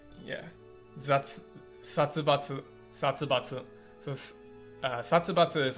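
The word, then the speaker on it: 殺伐: Satsubatsu.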